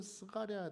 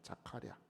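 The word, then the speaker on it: זכריה: 그리고이 아비아 어머 그 히스기아 할아버지 외할아버지의 이름은 스가랴 돼 있는데 스가랴는 여러분 우리나라 번역이 좀 잘못된 건데 스가랴가 아니고 자카랴입니다. 자카랴 원래 자카랴라고 읽어야 돼요.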